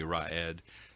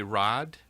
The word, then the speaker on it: Raad: a little bit differently some people will want to call me red um it's actually rod and there's sort of